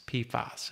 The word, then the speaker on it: PFAS: But one thing we're doing, and this is important, and if you Google PFAS, PFAS is how it's pronounced, mm-hmm.